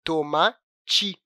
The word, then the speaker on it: tomate: Isso acontece também com a palavra "tomate", que a gente, às vezes, na hora de falar, colocamos o "I" no lugar do "E", pronunciando "tomati" em vez de "tomate".